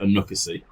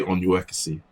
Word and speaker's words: Onuekwusi: the workforce i got that right so i pronounce it anoka c and let's just see yeah that's what my